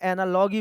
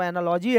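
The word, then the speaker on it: analogy: ऐसे कई जगह एनालॉगी बोलते हैं। ठीक है? वैसे अगर प्रोनाउंसिएशन देखेंगे तो एनालॉजी है।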